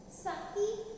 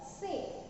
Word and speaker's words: sake: So you can pronounce this sake or se. Both are right.